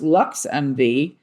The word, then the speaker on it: LXMV: LXMV, pronounced LuxMV, is Chicago's first ever